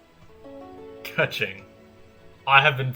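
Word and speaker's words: Keqing: Just call me Kuching. Kaching. I have been pronouncing it wrong all this time, and I'm proud of that.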